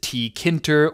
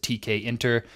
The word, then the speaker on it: Tkinter: this module quite a bit and they might pronounce it tkinter or tkinter or I have no idea and um that's just fine just know that from here on out I'm going to pronounce it TK enter that's the last I'm going to mention this